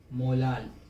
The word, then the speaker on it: molal: Unit wise, if you see, unit of molarity is mole per kg, or simply write small letter m, but you have to pronounce it as molal.